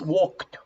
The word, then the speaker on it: walked: The other one is walked. Repeat. Walked. Walked. Walked. Walked. Walked. The pronunciation of a final ed is like a T.